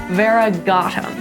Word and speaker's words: variegatum: And it's basically always gonna go on the second to last syllable of every word. So you can hear that here with Anacampsaros telephiostrum variegatum.